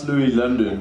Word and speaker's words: Loui Lvndn: name changed do yeah yeah no now it's Louis London though and and I feel like I should